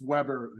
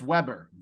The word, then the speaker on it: Weber: see if they pronounce Weber oh that's I'm saying no it's a German pronunciation you don't pronounce a w got it got it